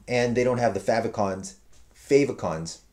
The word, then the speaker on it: favicon: they don't have the favicons favicons favicon is how you say it I learned that the hard way by saying favicon for decades um so yeah uh